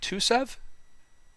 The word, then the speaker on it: Tuseev: Is it Tuseev? Yeah. So I pronounced it right.